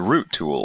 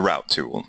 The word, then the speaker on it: route: here and we're going to look for the root tool or the route tool depending upon your preferred pronunciation I you might also see it under